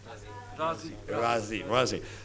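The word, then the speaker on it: Raazi: Ravi, did I pronounce it correctly? Razi.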